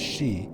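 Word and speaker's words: 四: And for a long time, a lot of fans were like, "Oh, four in Japanese means she." You pronounce it as she, which can also mean death.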